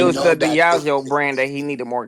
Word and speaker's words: Diageo: The Combs Enterprise with the Diego Liquor, so the It's Ciroc. Diageo. Diageo.